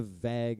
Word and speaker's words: vague: a vague idea of what we're doing. All right. That was the most North Dakota thing I've ever heard, dude. Vague. Vague, yeah. Vague. It doesn't rhyme with bag.